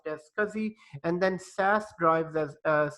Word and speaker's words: SCSI: because he drive SCSI it is pronounced as Kazi SCSI pronounced as Kazi and then SAS drives as SAS drives are